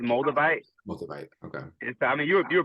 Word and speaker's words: Moldavite: If you So it's pronounced Moldavite. Moldavite. Okay. I mean, you were pretty much spot on. There's no tomato. Okay. But above Moldavite Mountain, Moldavite is a green crystal gem that